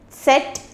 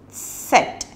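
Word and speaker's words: Zett: is he said in English and it is pronounced as set in German set and for example we can say say bra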